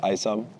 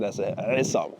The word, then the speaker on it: Aissam: So my full name is Isam and um but in um in Arabic you pronounce it asam.